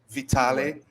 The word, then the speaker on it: Vitale: your name alex vitale vitale or vitali vitale with professor alex vitale